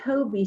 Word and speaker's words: Taube: It's the Toby Center. It's spelled Taube.